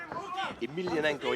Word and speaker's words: Emelianenko: Emelianenko, yeah, that's the way you pronounce it.